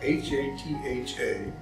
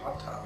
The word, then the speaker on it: hatha: things so hatha yoga h-a-t-h-a will pronounce it hatha but it's actually hot and it is the